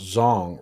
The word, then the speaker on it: Zhong: shocked but yeah oh my name is pronounced Zhong rhymes with long oh okay I actually